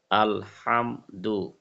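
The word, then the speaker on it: الحمد: জজম হাম দালের পেশ দু দালের পেশ দু আল হাম দু প্রথমে ভাঙ্গা ভাঙ্গা বানান করে তারপর ভাঙ্গা ভাঙ্গা আল হাম দু আমি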